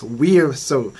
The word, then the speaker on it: VRZO: It's VRZO. I used to pronounce it wrong, but now I know how is the right way to pronounce it.